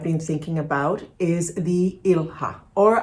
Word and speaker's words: ilha: is the ilha or I think it may be pronounced Ilia cuz I somebody mentioned and thank you for that comment that it's actually a Portuguese world word meaning Island um so it's probably Ilia and uh this is a